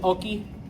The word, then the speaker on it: hockey: to kind of clarify, remember we don't pronounce our H's. So, what is oki?